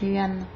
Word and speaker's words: Yuan: Yuan, comme ça se prononce Yuan.